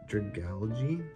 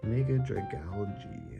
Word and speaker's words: Dragalge: Dragal- Dragalge? There we go. Mega Dragalge. That makes more sense, right? It's like algae. Mega Dragalge.